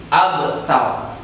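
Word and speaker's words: أبتر: maka ini pun harus dibaca tebal atau tafkhim, abtar. Cara membaca bacaan tafkhim atau bacaan tebal adalah dengan memajukan mulut kita atau bibir kita supaya menandakan bahwa itu bacaan tebal. Saya ulangi lagi cara membacanya. Kautsar, wanhar, abtar. Itulah cara membaca hukum bacaan tafkhim.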